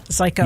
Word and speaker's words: Zajko: Zajko. Yes. Very good. Sounds like psycho, Rhymes with but psycho. with a Z.